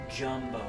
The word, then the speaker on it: Gumbo: Spelled like Gumbo, said Jumbo.